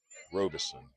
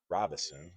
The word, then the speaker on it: Robeson: Again, when I saw the lineup card today, at first I thought it said David Robinson, but not spelled with that N. Robeson. Robinson, I guess you could say it that way too.